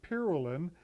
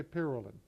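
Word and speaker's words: Pyralin: 1920s, they were using, and I pronounce it pyrrolin, that was the covering. Some people use the word pyrrolin, either or, tomato, I say pyrrolin.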